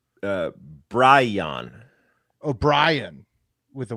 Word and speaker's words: Bryon: It is Bry It's Bryon.